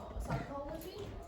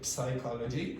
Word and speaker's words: psychology: Psychology. Yeah. What's missing? P. P. Yeah. So, don't say psychology, you say psychology in English.